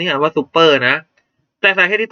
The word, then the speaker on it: ซุปเปอร์: แต่ มัน อ่าน ว่า ซุปเปอร์ อยู่ แล้ว เนี่ย ซุปเปอร์ อยู่ แล้ว เนี่ย นะ ครับ นะ แต่ ตัว